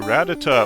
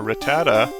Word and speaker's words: Rattata: little peek shall we a ratata or Rattata there's prob there's different ways to pronounce it I think I've mostly said ratat all my life but so you might hate me for it I'm sorry I do recognize there are multiple ways to say it but uh